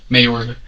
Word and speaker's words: Mayorga: Mayorga. Okay, I'm pronouncing that correctly?